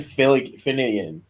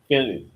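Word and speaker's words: Fillion: How about Nathan Filinian? Fillian Fillian.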